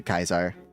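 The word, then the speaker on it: Caesar: C in Latin is pronounced K. Okay. So no I am I am pronouncing it right. I you know a true to Kaisar Kus.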